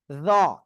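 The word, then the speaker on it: ر: ওকে, এরপরে আমরা যে অক্ষরটা শিখেছি সে অক্ষরটা এ অক্ষরটা, আর এ অক্ষরটা হলো র। জিহ্বার আগায় সামনের উপরে 2 দাঁতের আগায় লাগাবেন, লাগিয়ে মোটা আওয়াজে উচ্চারণ করবেন, একালিপ টান হবে।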